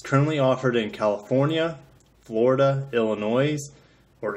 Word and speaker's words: Illinois: offered in California Florida Illinois or Illinois some people pronounce the S Indiana Massachusetts New Hampshire